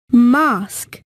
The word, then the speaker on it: mosque: g l u e mask m o s q u e well done remember u-e at the end of mosque is silent hello let's practice the